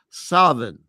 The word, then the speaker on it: Samhain: They have the word Samhain, Samhin, which is an Irish Gaelic term. It's mispronounced Samhain.